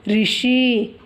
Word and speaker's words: ऋषि: जैसे ये री जुड़ी क में तो ये क्री हो गई, और ये जो वॉवेल है ये तो री है ही, इसीलिए इसे ऋषि बोलते हैं।